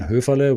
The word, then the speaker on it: Höferle: It's with the article, The Culture Mastery, or you find me on LinkedIn, Höferle, with an umlaut, with an Ö. That is so hard to pronounce for a lot of people.